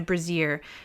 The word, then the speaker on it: brazier: However, ahead, fire burns in a brazier, suggesting this place has been recently inhabited. The brazier... is that how you pronounce it? Brazier? Brazier is like a bra.